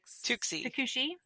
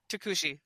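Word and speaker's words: Tucuxi: Tuxi. Takushi. Oh, there we go. I've been saying that wrong.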